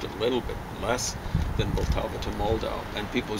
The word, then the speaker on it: Vltava: The Vltava. Isn't that amazing how the Germans mispronounce Vltava?